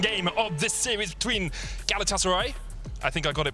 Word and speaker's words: Galatasaray: couple of tweets saying don't say galatasaray so it's galatasaray yeah we'll try if